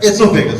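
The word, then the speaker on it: oesophagus: लैरिंग्स और फेरिंग्स के बाद फेरिंग्स कंटिन्यू हो जाता है फूड पाइप में, जो इसका नाम है एसोफेगस। यहां ऊ जो है साइलेंट होता है, एसोफेगस पढ़ते हैं इसे।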